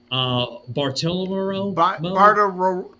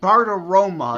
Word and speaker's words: Bartiromo: Joseph, if you know who I'm talking about, Bartolomeo? Bartiromo.